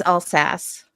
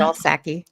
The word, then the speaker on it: Alsace: It's Alsace. My bad. I said Alsace. It's Kansas, Oh. you know. I thought it was all Sace, but Ian helps us